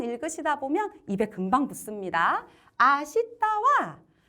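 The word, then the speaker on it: 明日: 그래서 아시다라고 읽어주셔야 돼요. 읽는 방법이 조금 까다롭지만 몇 개 안 되는 불규칙이니까 몇 번 읽으시다 보면 입에 금방 붙습니다. 아시다와 헤이지즈대와 아리마생이라고 되어 있는데요.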